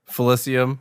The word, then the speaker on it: Felicium: Felicium, like Felicity.